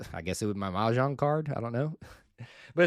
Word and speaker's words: mahjong: Believe it or not, Mahjong is how you say it, on the Plains is coming via On to Victory.